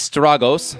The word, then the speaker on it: Strago: Okay, Strago or Strago in Japanese is Stragos, so therefore I would just say his name should be Strago.